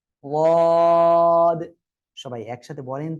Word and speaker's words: ضاد: উচ্চারণ হবে জিহ্বার গোড়ার কিনারা, উপরে মাড়ির দাঁতের গোড়ার সঙ্গে লাগিয়ে উচ্চারণ হবে। ওয়াদ।